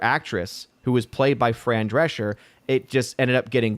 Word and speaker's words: Fran Drescher: I didn't know this but apparently was it Fran Drescher is that how you say her name yeah